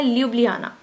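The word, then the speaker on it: Ljubljana: Spelling इसके यही है और इसको बोला जाता है ल्यूब्लियाना।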